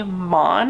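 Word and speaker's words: Maughon: and her name was Sydney mon I believe is the pronunciation it's m-a-u-g-h-o-n and it's unclear how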